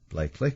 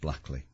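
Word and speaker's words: Blackley: somebody wants to know why uh blakely is called blakely and why it's not pronounced blackly so it just goes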